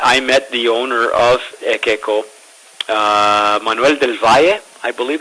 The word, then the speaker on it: Ekeco: it's got an unusual name we call it EO tequila and that's spelled e k Eco EO EO um the